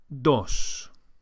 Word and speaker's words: dos: The word for two is dos. Dos. The Spanish D is softer than in English and is produced with